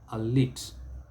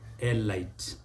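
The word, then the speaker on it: elite: one is a what whose origin is french but when it was taken into english it retained its french pronunciation but many people get it wrong and this is a lit a lit a lit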